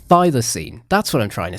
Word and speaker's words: thylacine: Thylacine. Thylacine. That's what I'm trying to say. I'm not very good at pronouncing that stuff, but it's also known as the Tasmanian tiger.